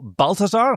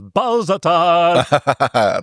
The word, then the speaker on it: Balthazar: And then all like Jose Carreras has to do is yell Balthazar, but he kept mispronouncing it as Balzatar.